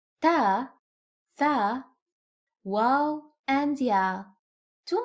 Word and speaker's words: ت: Ta is pronounced like the T in English.